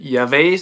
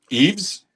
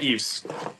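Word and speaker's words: Yves: Um, is it Yav St. Laurent? How do you How do you pronounce that? Eaves. Eaves. Oh, yeah. Eaves.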